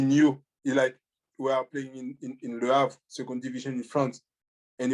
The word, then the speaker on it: Le Havre: Now it's in Miami, I think, in the MLS, as well as Diarra at Le Havre. Is that how it's pronounced? La Sana Diarra, Le Havre. Yeah. Yeah. Yeah, Le Havre.